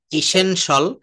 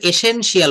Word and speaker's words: essential: তো এখানে পোটেনশিয়াল, beneficial, artificial, official, ইসেনশিয়াল, এটা আমরা এসেনশিয়াল বলি, প্রয়োজনীয় দরকারি, হ্যাঁ, কিন্তু আমরা এটা এসেনশিয়াল, ইসেনশিয়াল, রেসিডেন্সিয়াল, তারপরে হচ্ছে কনফিডেন্সিয়াল, এগুলোই হচ্ছে মূলত এখানে।